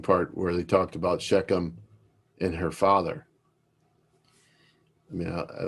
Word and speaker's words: Shechem: And Shechem is also a guttural.